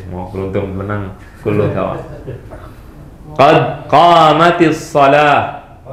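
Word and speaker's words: قد قامت الصلاة: Pakai kasrah, bukan tu ya. Ada yang baca qamatus shalah di Saudi. Nah, dulu muadzinnya bacanya qad qamatus shalah. Karena nggak belajar, dia salah bacanya. Orang Arab asli bacanya salah. Qad qamatus shalah. Kaif qad qamatus shalah? Qad qamat as-shalah. Sukun ketemu sukun jadi kasrah. Qad qamatis shalah.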